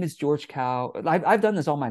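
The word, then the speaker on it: Kao: my name is George cow I've done this all my life that's why I know what I'm talking about my name is George Cal that's spelled k-a-o I say that as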